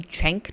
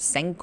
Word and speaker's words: Cenk: Chenk, not sank or kink or whatever. Chenk.